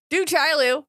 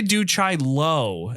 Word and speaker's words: Du Chaillu: How do you say your name? You said it different than I do. I say do Chaillu, and I believe I'm wrong because it's definitely spelled Lu. It's do Chaillu. Very clearly Lou.